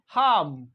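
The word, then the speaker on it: harm: sound निकला British English H ए आर एम हाम हाम हाम मींस नुकसान पहुंचाना हर्ड करना तो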